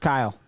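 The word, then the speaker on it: X Æ A-Xii: I heard it's pronounced Kyle.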